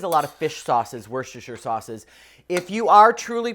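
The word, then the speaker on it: Worcestershire: of all Worster sauce Worster however you want to say it woster sauce as the Brits say is going to contain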